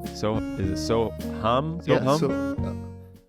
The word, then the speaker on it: Soham: correctly so is it so hum it's more hum like like you're like humming music yep in in yoga